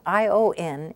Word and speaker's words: ion: The combination ION is pronounced ion in French. E, and then the nasal vowel, on.